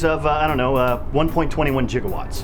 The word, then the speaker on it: gigawatt: I don't know 1.21 gigawatts 1.21 jigowatts guys it's pronounced gigawatt well my 21 gigawatts